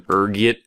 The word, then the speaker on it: ergot: There's a few different ways you can pronounce it depending on your social standing, ranging from ergit to elgo. Being the disheveled pauper I am, I prefer ergot, rolls off the tongue, you know.